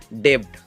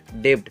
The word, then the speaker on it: debt: अगर टी से पहले अगर बी आया तो बी क्या होता है? साइलेंट होता है। बी क्या होता है? साइलेंट होता है। जैसे यहाँ पे अगर आप देखोगे DEBT, कोई क्या पढ़ता है इसको? डेब्ट। क्या पढ़ता है? डेब्ट। लेकिन एक्चुअल में इसको डेब्ट पढ़ते हैं क्या?